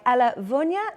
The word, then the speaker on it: Ella Vunja: Team 3 is captained by Ella Vunya, and I do believe that's how you say her name. That's how she says her name in an interview.